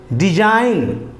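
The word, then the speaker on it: design: भी English word में एन से पहले अगर जी आता है तो जी साइलेंट हो जाएगा एन से पहले अगर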